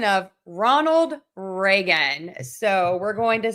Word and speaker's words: Ronald Reagan: So we're going to have stress on the beginning of each of these and we are going to say Ronald Reagan.